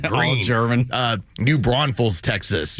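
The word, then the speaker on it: Gruene: Texas by the way they spell it like not like G re e e e uh n it's like g r u e hn like green uh New Brun Falls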